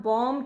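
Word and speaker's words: bomb: द एंड आखिर में अगर एम के बाद बी आएगा तो हम उस बी को प्रोनाउंस नहीं करेंगे। जैसे आपको ये वर्ड बहुत अच्छे से पता होगा, दिस इज बॉम्ब। हम बॉम्ब तो नहीं कहते ना, हम बॉम्ब कहते हैं, बॉम्ब।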